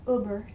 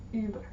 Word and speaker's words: Über: Über. You've all heard Über. Über. Not Uber, Über.